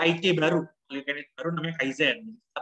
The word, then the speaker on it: Kaizen: Jadi kalau teman-teman baca ada beberapa kata-kata dari bahasa Jepang gitu ya, kalau ada N di belakang atau N di tengah gitu ya, kita bacanya sengau. Jadi bacanya bukan Kaizen tapi Kaizen.